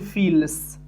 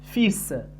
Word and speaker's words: fils: لا نقول fils. لا ننطق الحرف L. نقول fils.